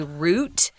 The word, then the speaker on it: route: was an important trade route or route you can pronounce it either way i think in taiwan we tend to say root paper route like if you have a paper route you deliver papers well